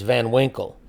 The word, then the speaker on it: Van Winkle: Last name is Van Winkle.